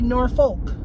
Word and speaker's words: Norfolk: a town called Norfolk it's spelled n-o-r-f-o-l-k not RK so it should be Norfolk but they call it Norfolk like where's the r where's the second R for it to be northward whatever I digress so